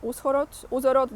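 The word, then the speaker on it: Ужгород: In Uzhhorod, I think you don't pronounce H, Uzhhorod, the capital of the province of Transcarpathia, Colonel Andriy Savchuk runs the State Recruitment Center.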